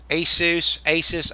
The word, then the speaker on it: ASUS: And it was Asus, I can never pronounce it.